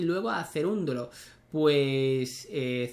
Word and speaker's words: Cerúndolo: susb y luego a cerúndolo pues cerúndolo si no me equivoco tiene acento en la u y no se lo han puesto no si no me equivoco